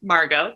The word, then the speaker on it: Margot: My name is Margot, pronounced Margot. The T is silent, comme en français.